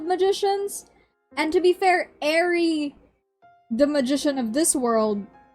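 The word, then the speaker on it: Airy: How do you say the end of the word January? Jan January. Oh, there you go. There you go. Is it Is it clicking? Is it clicking? January ary air.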